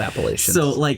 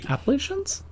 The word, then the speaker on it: Appalachians: in the Appalachians no it's not easy not Appalachians Appalachians Appalachians yeah the appal okay that's fair yeah